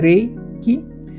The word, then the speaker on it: Reiki: Então, Reiki na verdade a pronúncia é Reiki, é espírito, energia, mais espírito, né?